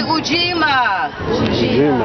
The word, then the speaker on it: ujima: festival focus is fujima can you say ujima yes that's a lot easier means collective work and